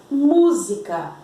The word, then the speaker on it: música: E o outro exemplo, música, música, música. A sílaba tônica é o mu.